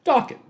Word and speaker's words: Dokken: 1979 under his surname, Dokken, which indeed rhymes with rockin'.